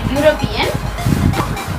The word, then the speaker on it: European: Please try to note that the word European is beginning with the vowel letter E, but the sound which is produced here is ya. European. The word, we pronounce the word as European. The letter is E, but the sound is a consonantal sound.